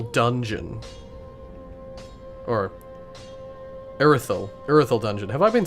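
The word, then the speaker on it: Irithyll: I believe there's a couple of things that I want to get from the Ethereal Dungeon. Or... Irithel Dungeon.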